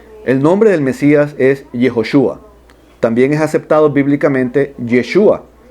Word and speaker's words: Yehoshúa: es hijo su a así se pronuncia yehoshúa y eso no tiene traducción se debe decir así en todos los idiomas del mundo entonces estos los pastores